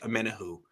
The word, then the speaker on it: Omenihu: the 49ers will use charles o'mena who apparently he likes his name to be pronounced amena who or so i've heard i'm not we're going